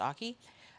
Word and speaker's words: Ache: And this actually came from a Susan Aki, Ache, spells like ache, but it's pronounced Aki. A Susan Aki book that was a patriotic quilt book.